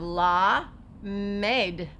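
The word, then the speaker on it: לָמַד: Then we're going to come over here, and remember the dashes under a word or lines under a word are going to say ah. So we're going to have la med. You don't know the mem yet, but that makes an M sound, and that means to teach.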